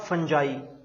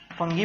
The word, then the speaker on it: fungi: जो third category है हमारे पास, that is द फंजाई। फंगी भी कह सकते हैं कुछ लोग इनको, but real is द फंजाई। जो प्रोनाउंसिएशन है इनकी क्या आती है, फंजाई।